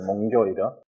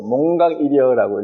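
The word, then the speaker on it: 몽교일여: 몽교 이어. 여기 몽자고 한자로 이렇게 써 놓으면은 이게 읽어 보라 그러면 또 몽각이여라고 읽는 사람이 있어요. 이거는 깨달을 각자인데 꿈꾸다 꿈에서 잠에서 깨어나다 할 때는 교라고 읽어요. 각자하고 똑같은 건데.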